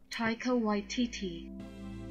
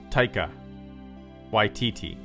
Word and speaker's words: Taika Waititi: Taika Waititi. Taika Waititi? Is that right, or is this one of those fake pronunciation things? Let me play that again. Taika Waititi.